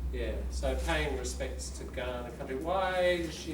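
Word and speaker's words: Kaurna: they you know she was talking about Aboriginal Ghana people are we clear on that the people who live here y been here for you know tens of thousands of years the Ghana and that's pronounced for the good not a cook spoke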